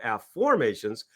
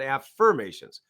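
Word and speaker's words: Aformations: So if you can see that this is my book of a formations which is spelled a ff o r m- a t-s a formations not affirmations right like I this is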